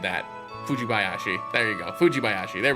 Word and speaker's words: Fujibayashi: Sheena Fujibayashi. I butchered that. Fujibayashi.